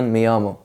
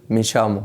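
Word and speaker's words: llamo: بالضبط في العالم برض دبل ال بتتنطق زي حرف الي مثلا في اسبانيا عادي بتتنطق مثلا زي مثلا ميامو ميامو يامو اللي هو انا ادعى او انا اسمي كذا في الاسباني بتاع الارجنتين هتقول مشامو يعني مثلا يوميامو انا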